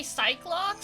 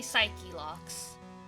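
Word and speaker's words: Psyche-Lock: Some people say psych locks, some people say psyche locks. They're both written the same in English. If it's psych, then the E is silent. If it's psyche, then the E is not silent.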